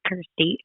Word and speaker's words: Kirstie: called thirsty Jones and thirsty rhymes with Kirsty so like Gotta Have